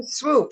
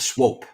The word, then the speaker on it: Swope: swoop he's in it's spelled that name definitely is spelled Swope oh well I've been saying swoop in my head swoop isw o o p that would that would be pronounced Swope for surea I'm dxic the